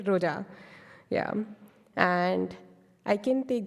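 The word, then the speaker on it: Roja: of the slide sorry Roa yeah you're right Roa yeah and I can take the other example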